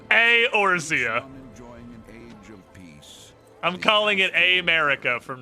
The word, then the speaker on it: Eorzea: Eorzea. It's 2 syllables. 2 syllables in the beginning, I mean. The E and the E is its own syllable. Eorzea.